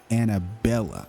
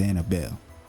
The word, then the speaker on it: Annabelle: I was like, her name better not be Annabella. It's Annabelle.